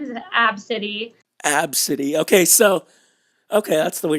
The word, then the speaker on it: Abcde: ABCDE, but pronounced Absidy.